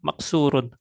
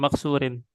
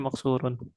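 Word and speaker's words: مكسورٌ: Makanya dibacanya maksurun, bukan maksurin. Nah, Dibacanya maksurun.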